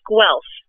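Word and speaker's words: Guelph: it is in beautiful now how do you pronounce it gelf g l p no it's gu I knew it I knew it I was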